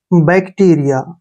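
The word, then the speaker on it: bacteria: के रूप में लिखेंगे और यहां ए का उच्चारण या करेंगे ऐसे बैक्टीरिया देखिए बैक्टीरिया बैक्टीरिया क्या होता है छोटे जीवाणु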